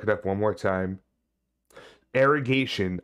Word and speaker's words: Arrogation: Arrogation. I keep wanting to say irrigation. I'm like, no, it's not irrigation.